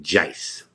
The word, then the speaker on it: Joyce: um oh it's spelled joyce j-o-y-c-e but they pronounce it jais they were like i'm the judge family you know he's a jice and uh i ended up going to this